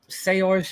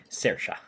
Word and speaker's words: Saoirse: I think we can just strongly support Seorsh in her efforts. It's Saoirse. I know it's an Irish name, so it's spelled odd.